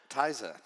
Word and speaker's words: Theise: Theise.